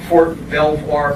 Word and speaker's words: Belvoir: During World War II, he served as a tech sergeant in the Army Corps of Engineers in Fort Belvoir, PA. How do you pronounce that? Belvoir? Belvoir, Virginia.